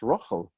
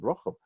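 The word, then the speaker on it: רחל: But if you're going to hear it in Ashkenazi pronunciation, you'd already hear this as an O. Remember we learned that this kamatz vowel is probably originally an O. So you may know people known as Rochel, or have met or heard of people named Rochel. So that's just an Ashkenazi pronunciation of Rachel.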